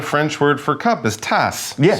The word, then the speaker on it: tasse: The French word for cup is tasse.